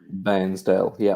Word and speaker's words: Bairnsdale: Did I pronounce that right? Bairnsdale, Victoria? Bairnsdale, yeah.